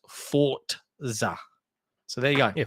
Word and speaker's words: Forza: to know it's pronounced Forza. So there you go. Yeah, Forza. That's how it's pronounced in Italian.